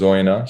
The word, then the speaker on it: Oyonnax: They pronounce the X, but the locals pronounce it as Oyonnax. So, They do say the X in the southwest, actually, down here. I can't confirm. but it's definitely a silent X to the locals.